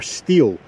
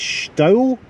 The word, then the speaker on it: Steall: crossed there we are steel now i have heard that the proper pronunciation for this is style but you can let me know in the comments if that's right the path through the